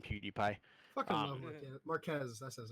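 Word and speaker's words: Marques: Marquez, that's his name. Right? No, I know. I was just No, ever yeah, since yeah. I heard that I it was mispronounced it. Mark Ass.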